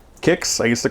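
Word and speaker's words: Quix: I don't know, but we used to call it quicks, like Q-U-I-X, quicks. But then over time in the collection, I guess in the arcade industry, people were saying, no, it's pronounced kicks with a K, like K-I-X. And I was like, oh, okay, you know, like the cereal, kicks. So I call it kicks from now on.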